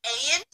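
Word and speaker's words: Ain: Wait, Ayan? How do you spell it?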